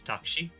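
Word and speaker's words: タクシー: In Japanese it's takshi.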